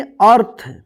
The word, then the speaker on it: अर्थ: पढ़ेंगे एक साथ पत्ता अ थ थ के ऊपर क्या रेफ की मात्रा तो इसको क्या पढ़ेंगे अर्थ अ आधा न य